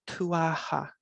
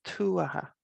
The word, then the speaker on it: Tuatha: people use their irish but please don't say tu aha or tuata it's tu aha that's where the that's where the emphasis is